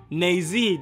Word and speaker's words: Naezy: Naezy. Naezy, that's how you say it.